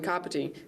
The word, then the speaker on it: Kāpiti: The ka from Kāpiti sounds like the car we drive.